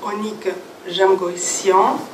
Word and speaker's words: Onnik Jamgocyan: Je donnerai la parole d'abord à mon voisin Onik Jamgoissian. Je prononce bien ?